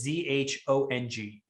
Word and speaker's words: zhong: in latin characters as z-h-o-n-g zhong z-h in in pinyin characters is the sound so h now you